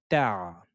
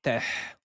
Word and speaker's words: تع: Ta, ta. Ne dites pas teh ou teh, mais c'est ta.